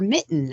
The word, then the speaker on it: MiTN: that is called the Michigan transparency Network or Mitten as we pronounce it and um uh Mitten is a